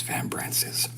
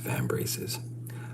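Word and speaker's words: vambrace: the trim on his van branches." Dude, it's pronounced van braces.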